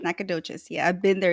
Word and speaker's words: Nacogdoches: someone say that properly Nacogdoches Nacogdoches I've been there so the g is silent yeah right Nacogdoches yeah I've been there